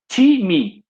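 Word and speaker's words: τιμή: para honra é time o que se pronunciasse time isso mesmo time o piso ele desfila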